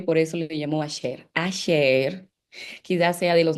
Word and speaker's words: Asher: Voy a decir hasta aquí, pero realmente deberíamos decir aser porque su nombre original o su nombre en hebreo es con Shin. Así así se escribe el nombre de Ash. Tenemos alef, Shin y Resh.